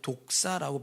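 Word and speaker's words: δόξα: 영광이란 말은 원래 이제 헬라의 독사라고 발음해요.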